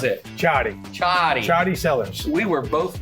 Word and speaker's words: Ciotti: How do we pronounce it? Ciotti.